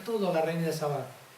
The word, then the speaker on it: Sabá: Vino la reina de Sabá, con acento en la segunda A, Sabá, no de Saba, sino de Sabá, y aquella le puso